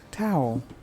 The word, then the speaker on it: Tao: still, did you say, is it Tau? Now I'm frustrated. Let me go find out. Hold on. Yes, Tau. That's what he said. Or she. I don't know. Somebody sent me email to tell me how to pronounce it. Tau.